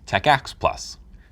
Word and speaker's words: TACACS+: TACACS+, pronounced TACACS+.